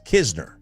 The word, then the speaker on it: Knizner: My my roommate, he was Knizner. It's just like Andrew Kisner for the Rangers. Oh yeah, he's his cousin. It's Kisner. There's no N. You don't pronounce the N.